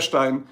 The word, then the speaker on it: Stein: Stein s e i n Stein a beer stein so pronounce it right Stein is the pronunciation okay